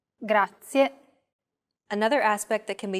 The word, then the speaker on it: grazie: A very common mistake many learners make when pronouncing this word is that they don't pronounce the final E clearly. Listen closely to how I pronounce this word. Grazie. Grazie.